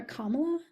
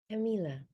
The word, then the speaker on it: Camila: Camilla or Kamala, go for it. Camila. Camila. But I prefer the Kamala mispronunciation.